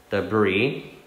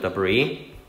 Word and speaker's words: debris: 자, 이 S는 소리 나지 않은 묵음입니다. 그래서 묵음 표시를 이렇게 parenthesis 괄호로 해주시고 debris 아니고 debris.